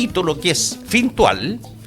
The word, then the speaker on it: Fintual: Oye, ¿y es Fintual o Fintual? Porque Domingo aquí, mi colega, le puso acento en la A. Es Fintual.